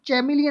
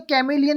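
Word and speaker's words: chameleon: तो इसमें बोला गया है, जैसे कि एक्सेप्शन में कैमिलियन, सॉरी, कैमिलियन में क्या होता है, CHAM, तो इसमें CH की उच्चारण चैमिलियन नहीं बोलेंगे, इसमें कैमिलियन ही बोलेंगे, चैमिलियन नहीं बोलेंगे, है ना।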